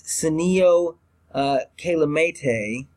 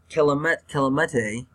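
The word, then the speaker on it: Senio Kelemete: They let Xavier Su'a-Filo go, and they brought in Sinio Kelemete. I probably butchered that name. But they did bring in, it's Sinio Kelemete. Kelemete.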